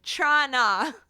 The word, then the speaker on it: Toronto: Yes, Toronto. Trana. Only way to to pronounce pronounce it.